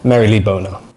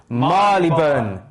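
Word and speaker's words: Marylebone: would you say this how i used to say it was mary lee boner but how it's actually pronounced guys is marleyburn what what what did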